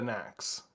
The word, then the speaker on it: KNX: swear they said after KNX which means another phase yeah is rhymes with snacks is that like I